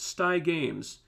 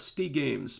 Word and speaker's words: Sty Games: Also, my name is pronounced Sty Games. It's not Stee Games, but no worries. Okay, cool. So I was getting it right. Sty Games.